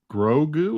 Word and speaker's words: Grogu: My complaint about the season is that Pedro and Grogu, is that how you pronounce it? Grogu, yeah, aren't in it enough.